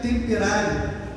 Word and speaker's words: temperare: A temperança, a palavra no latim, se pronuncia temperare e significa literalmente guardar o equilíbrio.